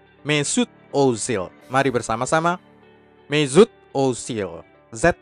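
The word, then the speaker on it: Mesut Özil: pasti salah Dek Hai sama seperti semua nama Turki kelahiran Jerman ada Oe di awal nama keluarganya umlaut Kami menyebutnya dalam bahasa Jerman Ozil Ozil dan ada tekanan Z pada nama pertamanya dan espada nama keduanya sehingga penyebutan yang benar adalah Mezut Ozil Mesut Ozil Mari bersama-sama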